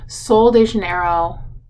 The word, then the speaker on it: Sol de Janeiro: it while you're here and it is the sol de janeiro that's how it's pronounced body wash and it is if you've